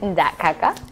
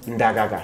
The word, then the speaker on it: Ndagaga: Is it Ndakaka? Ndagaga.